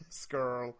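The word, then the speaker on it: Scurll: I love that you pronounced that correctly the first time. Skrull.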